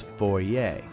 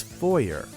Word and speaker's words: foyer: know how to pronounce foyer a foyer I looked it up in British English it's for yay in American English its foyer but listen to what